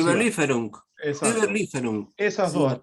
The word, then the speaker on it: Überlieferung: yo, la Überlieferung, no me acuerdo cómo se pronuncia. Überlieferung, Exacto.